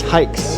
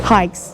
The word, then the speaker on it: HAIX: listen to the beginning it's hikes that's how you say it hikes like you're going hiking yep hikes we are